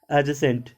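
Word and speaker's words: adjacent: डी को हम लोग नहीं बोलते हैं, डी साइलेंट हो जाता है, जैसे एडजेसेंट।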